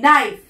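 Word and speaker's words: knife: কে এন আই এফই নাইফ কেটা silent থাকছে এন আই এফই নাইফ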